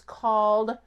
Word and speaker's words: cawl: a dish from Wales it's called call I think is how you say it it's c-a-w-l which is basically it's